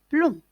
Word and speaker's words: blond: se termine par mb mais on ne le prononce pas blond estomac se termine par ac qui ne se